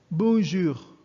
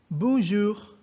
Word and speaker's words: bonjour: we pronounce it as bonjour bonjour again bonjour notice that the r the french r is pronounced differently in french it's like gargling water and the vibration for